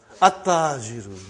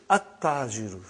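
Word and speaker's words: التاجر: Okay, you did not pronounce. You skipped it. Okay. At-tajiru. You see, your tongue has to touch, the upper part of your mouth inside. So, brother and sister, at-tajiru.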